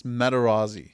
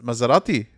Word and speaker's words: Materazzi: Let's get our It's It's Materazzi. Yeah, you do that. Materazzi. Maserati's the car. I think so. No, no, no, that's that's Well, I'll tell you I remember the Mohammed Ali pronunciation. There's a video of him going through the World Cup side for 2006 or whatever, all Italian defenders, and he goes uh Maz- Mazzerati.